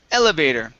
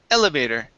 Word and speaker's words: elevator: good nice job okay this word here is pronounced elevator the stress is at the very beginning elevator there you go one